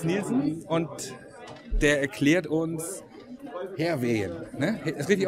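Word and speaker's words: Hærvejen: Und ich sitze hier mit Thomas Nielsen und der erklärt uns Herwehen. Ne? Ist richtig ausgesprochen?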